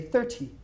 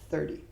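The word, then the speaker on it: thirty: Now notice how I say 30. It's almost with a dy instead of a ty. British people would say 30 and I say 30.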